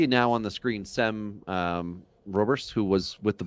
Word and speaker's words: Sem: And Sem? Sem. It's not Sam. It's SEM.